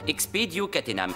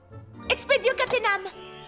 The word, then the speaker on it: Expedio Catenam: Dans le cas présent, la formule magique se prononce Expedio Catenam. Veillez à vous en souvenir. Tout le monde a compris? Bloom, est-ce que vous voulez essayer? Oui! Expedio Catenam! Maintenant, regardez ce qui se passe si on prononce mal l'incantation.